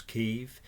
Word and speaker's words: Kyiv: We all now know how to pronounce Kyiv. It rhymes with Russians, for God's sake leave.